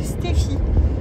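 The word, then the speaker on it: Stephy: fait je ne m'appelle pas Stéphanie je m'appelle stffy donc ça s'écrit S T e P h y euh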